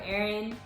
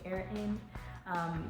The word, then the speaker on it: Airin: Well, hi, I'm Airin, spelled like the air you breathe and you breathe in, so it's literally Airin.